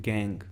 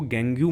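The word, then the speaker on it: gangue: पहली चीज़ तो इसको गैंग्यू मत बोलना या गंगू मत बोलना, ये क्या होती है, गैंग होती है, GANG। प्रोनाउंसिएशन में इसकी सिर्फ कहाँ तक आएगी, GANG, गैंग।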